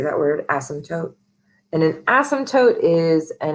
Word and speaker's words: asymptote: asymptote, which is how you say that word, asymptote.